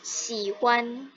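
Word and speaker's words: 喜欢: Nah, kalau X di sini bacanya jadi SH.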